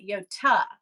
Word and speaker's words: Yota: in the Greek culture, we pronounce that Yota.